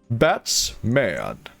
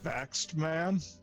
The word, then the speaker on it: Batsman: Batsman. Baxed man.